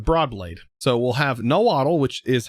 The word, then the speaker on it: Nahuatl: So we'll have nahuatl, which is how that is supposed to be pronounced, which is kind of funny.